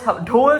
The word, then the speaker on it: ढोल: का fault because like लोग डोल बोलते हैं ढोल को अभी अच्छे से नहीं प्रोनाउंस करते सो आई एम टेकिंग